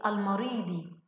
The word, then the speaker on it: المريض: أما هنا المريض، المريض، يا ترى اللام هنا شمسية أم قمرية؟ نعم قمرية يا معلمتي. ما هو السبب؟ نعم لأننا سمعنا صوت اللام المريض، هذا